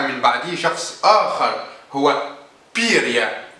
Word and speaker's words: بيريا: يقال أن ياجودا مات في عصر ستالين، وكان ستالين حيا، وجاء من بعده شخص آخر هو بيريا، وفي بعض النطق تنطق بيربا، ولكن الأصح هي بيريا.